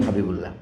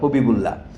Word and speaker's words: হবিবুল্লাহ: মোহাম্মদ হাবিবুল্লার অনুবাদের পার্থক্য এটাই আচ্ছা আবু মোহাম্মদ হাবিবুল্লাহ নামটা ছিল আদিতে এবিএম হাবিবুল্লাহ লক্ষ্য করেছেন এখানে দুটো মন্তব্য করি তার সময় এই যে লিখছেন আপনারা হবিবুল্লাহ এটা হিন্দি স্টাইলে লেখা হিন্দিতে দেখেন সালমান খানকে